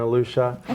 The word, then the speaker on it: Alisha: So I said Alicia because it's spelled Alisha, but it's pronounced Alusha.